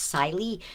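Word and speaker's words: Cilley: And it may be pronounced Sily, but my maiden name is Silbert, so I like pronouncing this as Silly.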